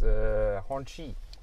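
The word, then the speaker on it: Hongqi: The pronounced name is Honqi.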